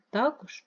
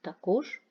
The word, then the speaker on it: також: алфавіт помилка і помилка також і також комбайнер і комбайнер мабуть і мабуть в українській мові існують Слова які мають два наголоси подвійний наголос це означає що слово